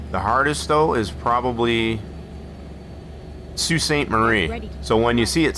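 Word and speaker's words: Sault Ste. Marie: A lot of people that are not familiar with Sue Staint Marie here in Michigan, they always say it wrong when they see it spelled.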